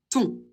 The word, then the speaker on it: ton: Pour le possessif masculin singulier, O et N, ça fait toujours on va le prononcer ton.